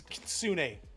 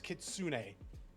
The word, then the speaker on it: Kitsune: It's Kitsune. It's Kitsune. It's a what? It's pronounced Kitsune-kan.